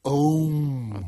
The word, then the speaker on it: Om: It's pronounced Om.